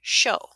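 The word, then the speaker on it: shō: was a wind instrument the chinese called a shang the japanese pronounced the name show the show was a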